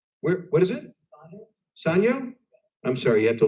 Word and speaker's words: Sanyo: But it's Sanyo. That's the round pronunciation. That is the proper pronunciation.